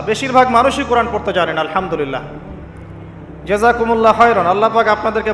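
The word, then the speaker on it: الحمد لله: আলহামদুলিল্লাহি রাব্বিল আলামিন। এইতো আপনি পড়ছেন আলহামদুলিল্লাহ। শব্দটা কি? আলহামদুলিল্লাহ। এই হা এর মাখরাজ কোথায়? হা এর মাখরাজ কোথায়? বলেন একজন কন্ঠনালীর মাঝখান থেকে এখান থেকে আপনি উচ্চারণ করছেন আলহামদুলিল্লাহি রাব্বিল আলামিন অর্থ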